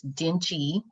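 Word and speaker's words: dengue: this is caused by a mosquito and it's dingy is how it's pronounced and it's only in places where dingy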